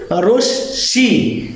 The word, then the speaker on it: রশ্মি: এটা প্রকৃত উচ্চারণ হচ্ছে কি রশ্মি, কারণ মটা দ্বিতীয় উচ্চারিত হয়, দুইবার উচ্চারিত হয়।